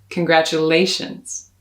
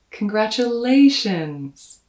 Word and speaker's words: congratulations: congratulations that's right keep that a in your sights and keep going until you get there and when you get to the a spend a little time maybe even smile congratulations congratulations so a quick